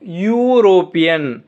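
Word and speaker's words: European: நமக்கு sound vowel சவுண்டான்னு பார்க்கணும். யூரோப்பியன், அப்போ யூ இந்த சவுண்டு தான் இருக்குது, யூ ஒய் சவுண்டு தான் இருக்குது, யூரோப்பியன். அப்போது நம்ம இங்கே முன்னால் பார்த்தோம்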